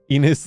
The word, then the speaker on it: Enos: Is it Enos or is it Innes? I don't know how to pronounce her name, but yeah, she has graduated from SOX. So SVA or SOX, if you don't know, is Enos? Enos like penis?